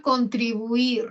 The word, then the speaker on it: contribuir: Por ejemplo, la palabra contribuir. Muchas veces la gente dice contribuir y lo separan en 4 sílabas, ¿no?